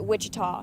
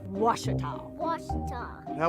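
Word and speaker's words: Ouachita: for wasita Baptist University back in Texas everybody pronounces it Witchita but really it's was was was how would you pronounce it was was it's was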